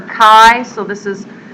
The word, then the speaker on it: chi: is the Greek letter Kai so this is it's spelled like it looks like chai but it's pronounced Kai like k a i Kai Square test and